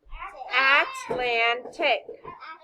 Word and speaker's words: Atlantic: Which syllable carries the accent? Is it the first syllable, second syllable, or third syllable? Let's say it together. Atlantic. Which one has the high pitch? No. Land. So the vowel goes there.